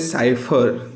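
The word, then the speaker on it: cipher: That is what is साइफर। तो इसका जो प्रोनाउंसिएशन है वो आप देख रहे हो, SAIPFHUR फर, सो साइफर।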